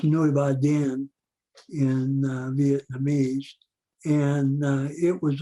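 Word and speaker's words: Núi Bà Đen: a mountain that's called uh black virgin mountain pronounced nueva den in vietnamese and it was a radio relay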